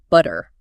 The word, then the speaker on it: butter: Basically, when a T sound falls between two vowel sounds, it often softens into this really quick, light D sound.